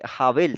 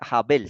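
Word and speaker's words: הבל: Sí entonces Recuerden que esta letra es la h o la J cuando está al principio como está de primeras en la derecha Entonces se pronuncia como una j y miren que la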